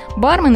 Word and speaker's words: бармен: стойкой напитки и закуски во многих современных словарях указано ударение на первый слог как в английском языке однако в словарь трудностей русского языка розенталя указано ударение на второй слог таким образом допустимой оба варианта произношения будьте грамотны доброе утро